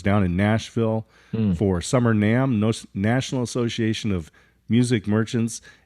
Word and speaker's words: NAMM: Is it pronounced NAMM?